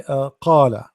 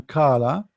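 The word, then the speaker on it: قال: you meant qala, but this is not correct, because qala, when you are say ka, you are pronouncing letter ka, which is here, this one. You get my point? So you have to work in this letter here. This is a qa, qa, the same as a chicken when it's make a sound, qa qa qa qa qa qa qa, not ka.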